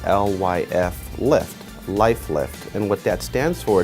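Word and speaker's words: Lyf Lift: We call it the Life Lift, and what it is, it's spelled L-Y-F lift, Life Lift, and what that stands for, it's Love Your Face Lift.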